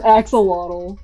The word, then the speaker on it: axolotl: It's an axolotl. Oh, is that how you pronounce it?